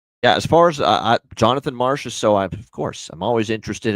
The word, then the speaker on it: Marchessault: Jonathan Marchessault, him calling him John Masserole is one, and the other is, of course, our guy, Oliver Ekman-Larsson, Oliver Lossum Tossum.